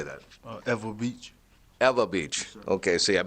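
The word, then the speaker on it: Ewa Beach: Eva Beach.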